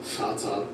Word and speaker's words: Vater: Vater, Volk, vielleicht. Vater, Volk, vielleicht. Let's say each one slowly, then at normal speed. Very nice. Vater, Volk, vielleicht. It's not like a V, it's like an F.